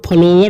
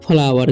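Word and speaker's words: flower: तरीके से फ्लावर ठीक इसे फ्लोर नहीं पढ़ना है बहुत सारे स्टूडेंट्स गलती कर देते हैं फ्लोर पढ़ लेते हैं इसे पढ़ना है फ्लावर क्या पढ़ना है फ्लावर ओ का उच्चारण जो है यहां पर अ हो रहा है ठीक तो फलावर क्या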